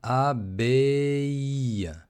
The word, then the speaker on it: abbaye: Une abbaye. Une abbaye. Une abbaye. Une abbaye это аббатство. Une abbaye. Не путайте слово une abbaye avec une abeille.